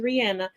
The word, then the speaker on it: Rihanna: And Rihanna, yes, her name is Rihanna. She's told y'all how to pronounce it multiple times.